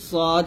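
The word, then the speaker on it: ص: সান এটা হবে সান আর সদ কিন্তু সিনের মত উচ্চারণ হবে মানে জিহ্বাটা নিচের দাঁতে লাগাতে হবে তবে এখানে সদ মোটা করতে হবে সিন পাতলা হবে তাহলে সদ হবে সদ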